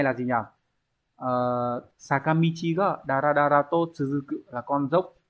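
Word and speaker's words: だらだら: Câu số 2 đọc là dara dara, chúng ta sẽ mang nghĩa là tong tong, thoai thoải hoặc là lê thê.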